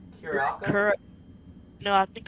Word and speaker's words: Curaçao: How do you pronounce that name? Curaçao? No, I think it's Curacao.